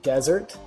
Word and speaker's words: Dessert: And it is desert. It's pronounced desert, spelled dessert.